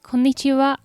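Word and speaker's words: こんにちは: later during the day you can simply say konnichiwa konnichiwa maybe you noticed that the last character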